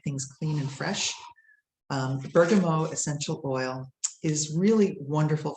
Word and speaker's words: bergamot: the next one is called bergamot or bergamo if we pronounce it in the uh french or italian way it comes from the